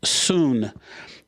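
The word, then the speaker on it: σύν: the word it's soon we would spell it like sun Su n it's pronounced soon soon means as one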